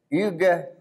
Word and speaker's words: Hugues: In English, we would pronounce it U de Baume, but Hugues de Baume.